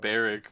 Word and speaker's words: Barack: Barrick, but okay. But it's spelled like Barack. Sure. Barrick. Whatever. You could have spelt it like Barrick, but you spelt it like Barack.